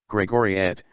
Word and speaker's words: Gregoriet: an unpersonalized response gregory gregoriet last e is silent as so often with this suffix alternate spellings include gregoriate